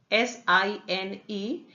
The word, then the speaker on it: sine: There are 3 ratios which are most commonly used are sine, S-I-N-E, in short written as S-I-N, still pronounced as sine, is defined as length of perpendicular upon the length of hypotenuse.